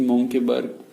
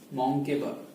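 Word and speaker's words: Mönckeberg: Medium size में हम बोलते हैं कि मोंकेबर्ग आर्थेरोस्क्लेरोसिस हो गया।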